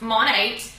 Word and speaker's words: Monat: So Monate comes from two words, and those words are modern and nature, and it is pronounced Monate.